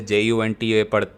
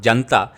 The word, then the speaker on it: junta: So Myanmar, all of you know there's a civil war going on, military junta, आप जैसे JUNTA पढ़ रहे हो, that's not pronounced as janta, that's the military junta.